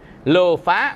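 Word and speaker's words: lobha: Lô bờ há, lô phá, mình đọc là lô phá, là tâm tham.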